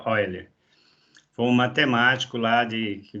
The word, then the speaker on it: Euler: Se pronuncia, escreve Euler, mas pronuncia Euler.